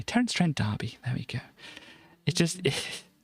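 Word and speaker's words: Terence Trent D'Arby: that band there uh Terren Trent Derby where she kissed me I should probably probably shouldn't I should probably should say his name properly Terence Trent Derby there we go it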